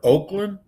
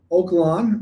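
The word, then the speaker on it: Oak Lawn: Is it pronounced Oaklawn or Oakland? Oaklawn. Oakland's in California, but yeah, Oaklawn.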